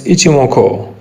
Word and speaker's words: Ichimoku: some of you yes its pronunciation is ichimoko a japanese word one of the best